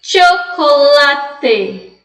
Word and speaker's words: chocolate: eu vou pronunciar professora você vai ler com o som de tiê então vai ser chocolate chocolate pode colocar não tô